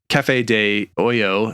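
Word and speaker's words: café de olla: out to me that we were mispronouncing a in our coffee episode that we did Cafe De Oyo is how it's supposed to be pronounced or Osho depending on your dialect where you're from it was a copy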